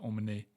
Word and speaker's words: emmener: When you have a verb that ends on ER, this ER is pronounced E. The R is silent.